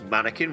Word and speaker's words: Mannequin: And of course, Mannequin rhymes with Anakin.